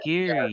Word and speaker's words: Geary: Is it how is it pronounced? Geary or Oh, Gary? Geary. Yeah, Geary.